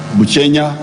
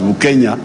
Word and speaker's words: Bukenya: His real name was Bukenya. But because Banyawere cannot easily pronounce Bukenya, they say Buchenya.